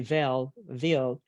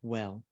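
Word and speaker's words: Weil: I know it's pronounced different for some, they say Ville, but we will say Dr. Andre Well.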